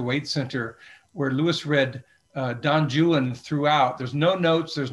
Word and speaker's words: Don Juan: Well, actually, the British say Don Juan. If you look at the rhymes, Byron uses Juan to rhyme with other words. So obviously it is Don Juan in the correct pronunciation.